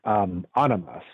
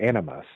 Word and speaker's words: animus: And every man has a feminine subpersonality, and every woman has a male subpersonality that's known as animus or animus, depends on how you want to pronounce it.